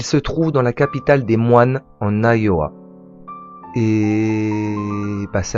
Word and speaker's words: Des Moines: À prononcer Des Moines. Ça vient du français, nom qui avait été donné par une colonie qui était là précédemment.